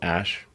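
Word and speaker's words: Æ: Um, and then the AE is like pronounced Ash.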